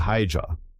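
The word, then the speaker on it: Haigha: His name is Hija. He pronounced it so as to rhyme with mayor.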